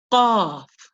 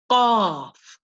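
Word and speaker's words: ق: This letter is called qaf, qaf. It is represented with the letter Q. When you pronounce this letter, you keep your mouth fully open. It sounds like the sound of a crow when it's making its noise. Caw, caw, caw, caw.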